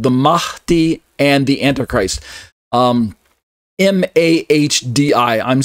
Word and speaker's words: Mahdi: M-A-H-D-I. I'm saying Mahdi, where there's kind of a breathy sound on the H part, Mahdi.